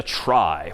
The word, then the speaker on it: trie: this one pictorially for the most part and that's known as a try which is somehow short for retrieval even though that's pronounced somewhat differently but try just means it's a data structure for retrieving data.